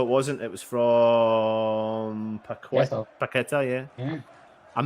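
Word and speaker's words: Paquetá: I'm not saying Que. I'm saying Ke. Ke. Paqueta. Yeah. Paqueta. I got a voice note from Russ. Stop saying Que. Say K. Yeah, because it's in fairness,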